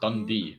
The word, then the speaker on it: Dundee: One of them's called Dund, the other one's called Oceans 11.